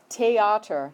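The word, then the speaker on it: Theater: this one to theatre in german it's pronounced teh otter they don't have the th sound so it's a hard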